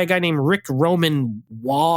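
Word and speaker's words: Waugh: So you have a lot of actors in this, and it's directed by a guy named Rick Roman Wall, I think is how you pronounce it.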